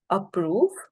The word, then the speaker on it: approve: such okay for instance the word approve approve approve right which consists of two syllables a and pro approve right the stress falls on the second syllable it is noted as